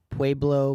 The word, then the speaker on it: Pueblo: did a city called I'm gonna mispronounce it because everyone was telling me I did mispronounce it there way below Colorado Pueblo Colorado I think you nailed it wait it's on the